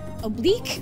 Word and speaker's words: oblique: I'll, it's all about the harmony between the internal and external, oblique muscles? Is that how you pronounce it? Yeah, oblique muscles.